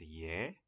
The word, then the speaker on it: 예: And the character is pronounced ye, ye. But when we say everything together, we just say e. It sounds like e.